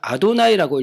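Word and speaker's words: אדני: 쓰여집니다 근데이 5900번 모두 히브리어로 읽을 때는 아도나이라고 일지 여호와라고 읽지 않습니다 근데 개신교 특히 한국에서는 이걸 여호와라고 읽지요 근데 사실은 그 여호와가 아니라 아도나이 자존자 근데 자존자라는 단어의 정확한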